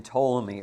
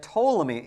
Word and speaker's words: Ptolemy: which is which is that Ptolemy even though it's not pronounced this way but Ptolemy starts with a P and so does Pharaoh